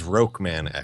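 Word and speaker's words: Rockman X: a fair inclusion yeah yeah it's we we pronounced it as rokan X there you go yes it's totally not even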